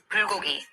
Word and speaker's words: bulgogi: This is the correct way to pronounce Korean food terms. Notu, it's bulgogi.